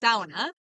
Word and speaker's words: sauna: to start saying it the traditional Finnish way, which The is Finnish way. yes, the Finnish way, which is sauna.